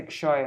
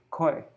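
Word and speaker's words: ক্ষয়: far away, sangsar nahe kshoy. Not even our sangsar will be koi. Bengali, whenever there's a K and an S with a dot under it, it's pronounced ko.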